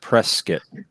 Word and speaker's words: Prescott: you should move the sedona yeah it's actually pronounced press skit like prescott yes i've been saying prescott wrong